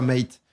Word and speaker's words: M8: plus facile à prononcer pourquoi mate parce que 8 en anglais c'est eight et donc m plus AX ça fait mate et on s'y retrouve